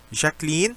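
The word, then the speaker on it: Jacqueline: 중에 대표적인 여자 이름으로 프랑스어지만 ዣ클린, 독일어로는 보통 샤클린이라고 읽습니다. 이 단어를 굉장히 선호하죠. 어쨌든 샤클린 hat Thomas ein Brötchen gegeben.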